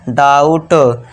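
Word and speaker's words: doubt: यहां जो बी है ये साइलेंट रहेगा। डी के लिए ड कर दिया। औ का साउंड हमने लगा दिया। डाऊ हो गया। औ का साउंड लगा दिया। डाऊ और बी साइलेंट है। टी के लिए ट ये हो गया डाउट।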